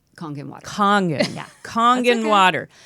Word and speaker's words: Kangen: Let's talk about pronounce it Kangen water. It's Konkin Water.